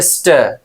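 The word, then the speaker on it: stir: अब इसका प्रोनाउंसिएशन दिया है स्टर। क्या बोलेंगे? आर को साइलेंट रखना और बोलना स्टर, मतलब इस तरीके से स्टर। और जो है कि बहुत कम प्रोनाउंसिएशन करना, स्टर।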